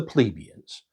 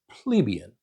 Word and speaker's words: plebeian: the common class, the plebeians, which I grew up hearing pronounced plebeian. But lately, I've heard a lot of folks pronouncing it plebeian. So, I'm going to say plebeian.